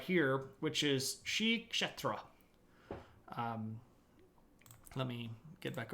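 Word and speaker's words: Sri Ksetra: right here which is sh chetra um let me get back over here and I'll type that in for you notes uh this is pronounced Shri like Sri Lanka and then you kind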